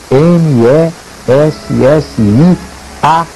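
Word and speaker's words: Messiaen: harmonias chamado Olivier Messia escreve Messia m e s s i a e n Messia digamos assim que se pronuncia mess esse era um compositor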